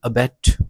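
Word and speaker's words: abet: जबकि यह वाला जो है इसको हम प्रोनाउंस करेंगे अबेट।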